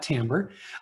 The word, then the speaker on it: timbre: timbre can be misleading that second word is not pronounced timber it's pronounced timbre a lot of times we say incorrectly in barbershop so if we use that word let's call it timbre um it's common to